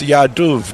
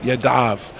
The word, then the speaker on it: Yadav: Yankee 7000 says, Yadav, in my opinion, is Yaduv, not Yadav.